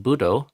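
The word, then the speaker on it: buddho: Um, the first d is closing the first syllable. Um, we say b. We don't say B, we say B. So the D is closing off the air, restricting the air and stopping sound from coming out.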